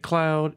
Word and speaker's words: Cloud: of nail makers as the French word for nail is clue c l oouu which is pronounced like his name St Cloud is also invoked against